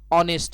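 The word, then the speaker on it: honest: का यूज करना है, और ऑनेस्ट जो वर्ड है यह कॉन्सोनेंट लेटर एच से शुरू हो रहा है, लेकिन यहाँ पे एच साइलेंट है, यानी यह शुरू हो रहा है ऑनेस्ट से, यानी यह शुरू हो रहा है ओ से, और ओ एक भाउल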